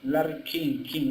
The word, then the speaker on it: Larry King: Así se pronuncia, Larry King, no, bueno, Rey, ¿no?